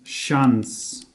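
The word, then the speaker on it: شانزده: and six together and here number six was called chess but in the transformed version it becomes shuns shuns so we write shuns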